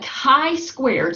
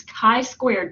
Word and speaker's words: chi-squared: We do a chi-squared, so this is pronounced kind of like K-I with a long I, not the CH sound that you might would think, but it's chi-squared test.